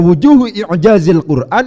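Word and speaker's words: وجوه إعجاز القرآن: Cara bacanya harus disambung di situ. Tidak boleh dipisah-pisah. Karena wujuhu i'jazil Qur'an itu susunan idhafah.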